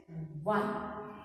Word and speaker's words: won: action word that is one fine and children I've seen many of you pronouncing this as incorrectly it's called one same sound is for w n one so our team won